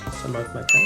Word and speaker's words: Selamat makan: Selamat makan. Yeah. Oh, I pronounced it right.